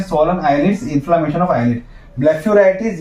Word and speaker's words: blepharitis: तो ब्लेफेराइटिस की spelling BLEPHARITIS है, तो ब्लेफेराइटिस बोला जाता है, पर इसका प्रोनाउंसिएशन ब्लेफेराइटिस होता है।